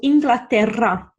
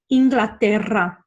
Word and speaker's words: Inglaterra: Double R, it's rolled around your mouth, okay? So, Inglaterra, Inglaterra, por ejemplo. So, really roll those R's.